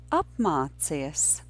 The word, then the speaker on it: apmācies: Apmācies is a three-syllable word. Usually I start teaching three-syllable words from their last syllable. So the last syllable of this word is cies, and there are two difficult sounds in this syllable.